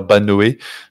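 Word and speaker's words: Bynoe: sacrément bon ce gitens est-ce qu'on peut arrêter de dire B Noé je sais pas pourquoi les commentateurs ils arrêtent pas de prononcer le E mais il ne se prononce absolument pas en anglais euh et de ce que je sache il est anglais donc voilà on a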